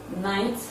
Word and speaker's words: knight: The sound K is silent in the following words. Words like night, spelled as KNIGHT.